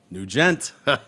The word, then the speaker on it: Nugent: named scott nugent uh-huh ah new jet new gent okay here we go a new gent and it's spelled new gent like that not like ted nugent well do you not